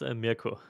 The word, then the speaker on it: Mirko: It's Mirko.